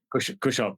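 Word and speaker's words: Cushop: And you had ERC proof of concepts grant for a project called Kushop. I don't know how to say it. Kushop.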